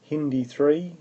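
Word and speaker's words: HindIII: Hindi3 as it's pronounced also cuts at this sequence.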